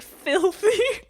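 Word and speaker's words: Bilthy: That is spelled B I L T H Y. So it really is like Filthy but with a B.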